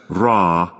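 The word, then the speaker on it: ر: This one, which is pronounced as Ra, you also brought to 9.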